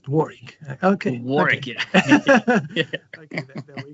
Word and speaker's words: Warwick: of the University because I would have pronounced it Warwick as it is spelled but uh I was